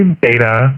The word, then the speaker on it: betta: The betta fish in the store, and I know some people say beta, but I think the pronunciation is betta. You can use both.